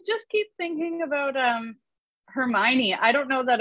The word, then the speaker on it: Hermione: that it's unfortunate but when i read it i think i was not alone in mispronouncing it for having never heard the name before when i was like 11 and i think i called her herme one for most of the time i read that series um yeah that's